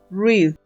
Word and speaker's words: read: Read. Read. En pasado se escribe igual, pero se pronuncia diferente. Se pronuncia read. Read. En presente, read. Y en pasado, read. Read, que es el verbo leer.